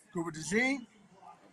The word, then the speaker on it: Cooper DeJean: Cooper DeJean.